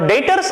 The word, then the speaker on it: debt: Money is payable, and डेटर्स आर my customer. डेट DEBT, डेबिटर, ऐसा मत बोलना, B is silent, so that is डेटर।